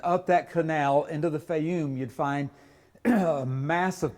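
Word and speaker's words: Fayum: to the West into a place called The feyum it's spelled several different ways but like f-a-y-u-m the feyum sort of a spade-shaped green spot you can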